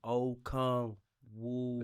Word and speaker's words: Onyeka Okongwu: I ain't want to be in here on Onyeka Okongwu. Did I say it right? Onyeka Okongwu. Okongwu.